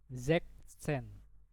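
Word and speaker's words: sechzehn: Jadi bacanya Zeksen.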